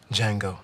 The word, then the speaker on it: Django: he what's your name Django the D is silent thank you